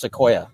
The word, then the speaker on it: Sequoia: Yes, I think it's pronounced Sequoia.